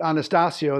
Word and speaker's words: Anastasio: does well I'm Anastasio you could pronounce it Anastasio that's really the Italian pronunciation but my dad pronounced